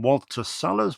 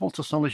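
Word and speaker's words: Walter Salles: And we do like a bit of Donny Yen, especially when we pronounce his name correctly. Uh, next up is the new film from Walter Solers. Walter Salers, you may remember from The Motorcycle Diaries.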